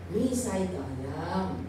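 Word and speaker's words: Nissi: Akala ko sinon Nisayam. Okay. It is pronounced as Nisay.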